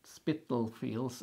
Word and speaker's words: Spitalfields: Yeah, let's see if I can pronounce this correctly. It's Spitalfields. Hospital, right? Yeah, actually, I was thinking Spitalfields, and then I was thinking Spittle.